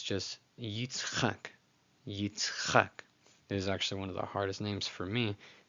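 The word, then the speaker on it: יִצְחָק: When I was first learning these, I was like, I could never get just the tzadi and the chet sound back to back. It was so weird for me. Yitzchak.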